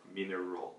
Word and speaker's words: mineral: So 마지막 모음, 날 아니고 roll, mineral.